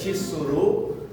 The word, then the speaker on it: tsuru: O nome desse pássaro é tsur que pronuncia tsuru.